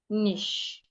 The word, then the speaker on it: niche: them rather when you pronounce them you should pronounce them with sh h chev chevron cash nish on and on like that.